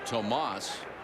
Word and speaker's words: Tomas: Young man from South Florida who was so quiet and soft spoken when everybody started pronouncing his name Thomas. He started calling himself Thomas. Finally, Jim Morris said, if your name is Tomas, tell him your name is Tomas.